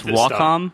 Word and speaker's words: Wacom: I believe it's Wacom, but I always say Wacom just because it's fun.